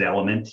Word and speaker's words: LMNT: and t and t we pronounce it element yeah yeah so drink